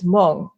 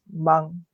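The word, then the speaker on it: 梦: Dream in Mandarin Chinese is mong. In Taiwanese, it's the same word but pronounced as mang.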